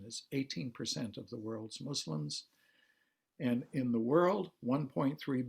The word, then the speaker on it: Muslim: me for that but the pronunciation is muslim not muslim that's really a kind of fabric in our american english